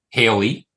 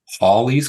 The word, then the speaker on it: Halley: have Italian's name um some people say Haley right Haley's Comet um I say Hallie that's what I was always taught too right though if you probably listened throughout the course of this I might mix up pronunciations it turns out there's also been research done that suggests it might actually be more like Ollie's Comet yeah or horley's comet and Halley's uh name